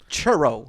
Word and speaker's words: churro: girl of a man it's pronounced churro like burrow with a cha instead of a buff i'm sorry i'm just